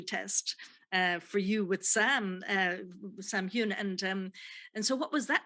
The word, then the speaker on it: Heughan: War II nurse, and she's playing opposite Sam Heughan-- is that how you pronounce that name? playing Jamie, your partner and later your husband